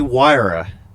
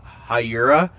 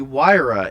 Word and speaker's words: Huayra: What if they add the Pagani Huayra, if that's how you pronounce it? You know, for the longest time, I thought that said Hyura, because I was like